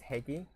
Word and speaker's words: Hegi: As you can see, her family with Higi last name. Who and what? So Sapphire's aunt, Lorraine Hegi, I mispronounced it at hearing. I do apologize for pronouncing it incorrectly. The correct pronunciation is Hegi.